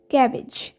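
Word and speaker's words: cabbage: ক্যাবেজ, ক্যাব বলবে না, CAB, এখানে বি এর উচ্চারণটা হয় না। আর বেজ, BAG, বেজ।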